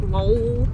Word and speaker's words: Lowell: Because I do lol lol, but it's spelled like lol, like l-o-w-e-l-l, like lol from Man with a Plan.